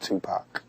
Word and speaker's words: Tupac: tell me i pronounce remember like two like two and poc like pocket you won't go wrong just tupac what's your best christmas